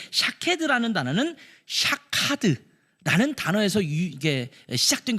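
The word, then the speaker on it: שָׁקֵד: 샤케드, 샤카드, 쇼케드 다 모음은 똑같은데 여기에 점을 어떻게 찍느냐에 따라서 발음이 달라지는 거예요.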